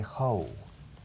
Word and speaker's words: how: You have a tendency to say how en vez de how. La palabra como is how. How. Como la FAO. the Food Organization, the FAO. Now, ahora. No decís no. Or cow, vaca. No decís creo, cow. Sin embargo, how, muchos, la mitad de vosotros decís how. Cuidado.